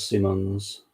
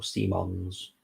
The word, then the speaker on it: Simons: Here comes Simmons, or Simons. So I was pronouncing it wrong last week.